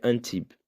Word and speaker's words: Antibes: Se escreve Antibes. Antibes. Um brasileiro pronunciaria. Português também. Mas se pronuncia Antibes.